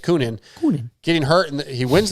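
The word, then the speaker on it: Coenen: Koonin, I think is how you say it. Koonin.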